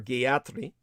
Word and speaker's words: Gayatri: so by the way Gayatri or Gayatri in the correct uh Vedic pronunciation she's she's a